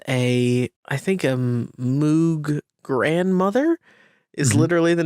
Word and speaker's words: Moog: i think that uh synthesizer aficionados will insist it's called moog oh yes sorry the moog grandmother is just not how it's spelled so really kind of